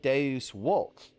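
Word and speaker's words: Deus vult: The letter V actually had a W sound. So this is pronounced Deus Volt.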